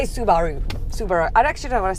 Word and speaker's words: Subaru: at car magazine and the powers that be said that it had to be said su baru salax subaru so i just say subaru super i actually don't